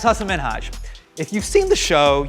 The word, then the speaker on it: Hasan Minhaj: So my name's Hassan Minhaj. I would get Hansen Minaja. I'd get Sahan Minha.